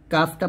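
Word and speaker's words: كاف: 10 তারপর হচ্ছে কাফ কাফটা পাতলা উচ্চারণ করবেন কাফ এরকম কাফের গাণিতিক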